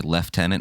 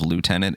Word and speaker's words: lieutenant: that the reason why the British say leftenant instead of Lieutenant is because Lieutenant is